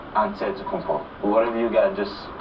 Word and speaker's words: Antetokounmpo: In a Greek way, you gotta say with a D, so it's Antetokounmpo. But in the Greek way, you say with an NT, like Antetokounmpo.